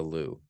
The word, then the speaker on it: Louvre: At the Louvre, it's pronounced the Louvre, at the Paris's Louvre gallery last September.